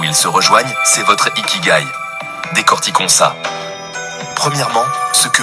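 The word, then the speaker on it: 生き甲斐: L'ikigai, prononcé ikigai, est souvent traduit par raison d'être.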